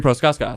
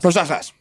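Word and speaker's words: Procházka: No, it's Jiri Proskaskas. Proskaskas.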